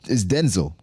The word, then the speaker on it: Denzel: Well, remember we found out about like his name, how you pronounce it? It's Denzel. It's Denzel.